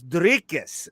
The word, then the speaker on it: Dricus: how you pronounce uh it's drikis apparently but uh here we are